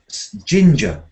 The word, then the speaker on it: ginger: And here we've got it back again, ginger. Ginger. And here we've got it the other way, linger.